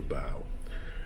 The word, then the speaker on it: bow: of the ship that is called the bow it's spelled the ow it's nothing though it's the bow the back of the ship is called the